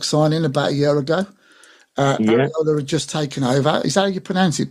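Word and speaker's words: Iraola: do a book signing about a year ago arola had just taken over is that how you pronounce it by the way arola yeah okay yeah he just took over and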